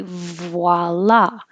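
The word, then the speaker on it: voilà: the 80s totally awesome this is a french word but americans pronounce it an american way and we say voila voi which is a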